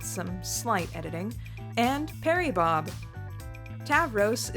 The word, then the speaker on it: Tavros: Tavros is the Greek word for bull, and its pronunciation is the same as the modern Greek name for Taurus, his zodiac sign.